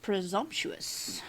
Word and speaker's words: presumptuous: It's spelled P R E S U M P T U O U S.